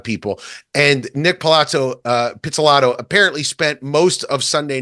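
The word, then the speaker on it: Pizzolatto: name right it's very Italian so I'm Nick pelato did I pronounce that correctly yeah got it Nick pelato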